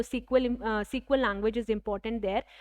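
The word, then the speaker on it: SQL: इसको सिक्वल pronounce करेंगे एज I mentioned here, ठीक है, जिसका फुल फॉर्म है स्ट्रक्चर्ड क्वेरी लैंग्वेज, ठीक है।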